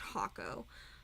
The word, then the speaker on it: H44K00: By the way, if you guys don't already know, so my YouTube name is Hako. Rather, it is H44K00, which is supposed to be pronounced Hako.